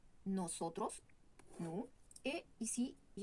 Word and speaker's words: nosotros: On prononce bien la O. Nosotros, nous.